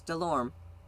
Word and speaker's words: Delorme: You have my last name right, but the last E is silent. Cheers. Mm-hmm. So it's Delorme.